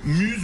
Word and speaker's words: Muse: des récepteurs DAB plus Muse ou Muse selon que vous prononcez à la française ou à l'anglaise.